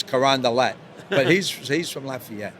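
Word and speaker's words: Carondelet: called karand de because everything's French right it's karand DEET but he's he's from Lafayette interesting well yeah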